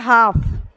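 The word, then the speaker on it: half: है यानी चा क बस इतना ही का उच्चारण हो रहा है उसी तरह से आता है हाफ एच ए एल एफ इसमें भी ए लास्ट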